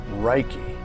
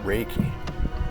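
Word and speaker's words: reiki: all righty then reiky or raiki I've heard it pronounced both ways but I'm going to go with reiky and this one in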